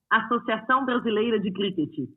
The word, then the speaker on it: Associação Brasileira de Cricket: The Associo, no, that's totally wrong. Brasilia de Cricket, ABC, was founded in 2001. Give me the right pronunciation. Associação Brasileira de Cricket. That's the one.